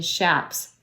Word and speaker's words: chaps: The leather that covers cowboy's legs are called chaps mispronounced by some but correctly "shaps" It comes from the